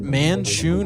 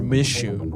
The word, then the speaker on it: Manshoon: Is it Manshoon or Mishoon? I'm saying Manshoon. I'm saying it's like a different How do way. you how do you spell that? It's man and then Shoon.